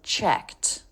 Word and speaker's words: checked: The ED is pronounced as a T when it comes after an unvoiced consonant. In this case, we have the K. So, checked.